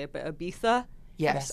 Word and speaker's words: Ibiza: Speaking of exciting, you went to, I pronounce it, it always sounds weird when I say it, but Ibiza? Yes, Ibiza.